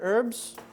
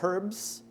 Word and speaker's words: herbs: put it in with our other herbs or herbs if you don't like to do a silent H so then dump it